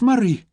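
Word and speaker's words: Moray: She'd copied down the letters carefully, M-O-R-A-Y, and she'd frowned. "But that's not how it's said at all," she'd pointed out. "It's Murray."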